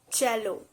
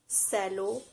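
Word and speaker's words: Jell-O: uber the next brand is jello cello it's not cello it's jello it provides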